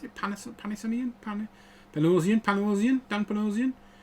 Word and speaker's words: Panosian: This is the Dan Panasonian. Is it did I pronounce it? Panasonian? Panosian? Dan Panosian.